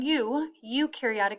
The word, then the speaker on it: eukaryotic: Meaning eukaryotic is how you pronounce that.